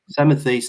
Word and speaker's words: Samothrace: So I'd like to start this evening by examining the earliest British monarchs from, I think I can pronounce this correctly, Samothrace. Is that right? Samothrace, thank you.